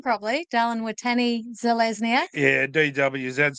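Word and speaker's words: Dallin Watene-Zelezniak: Dallin Watani Zelezniak.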